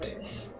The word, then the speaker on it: Tate: Tate. Not Date.